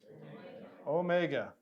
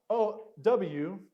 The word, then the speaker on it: Omega: end what's this one Omega not o w this is Omega and we already said